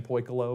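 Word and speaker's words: Pikilo: I want to say the I is silent, but I've been hearing a lot of people around the office saying Pyl, but P I K I L O is the brand here.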